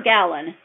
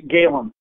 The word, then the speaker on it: Galen: about your new book is it Galen or Gallen it's Galen okay that's the way I was pronouncing it so we're going to talk about